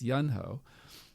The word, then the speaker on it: Yunho: one is yunho uh i think i mispronounced that earlier so it's yunho uh thank you and